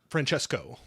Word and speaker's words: Francesco: Wait, so it's Francesco or Francesca? Francesco. Oh, cool. Got it. Francesco.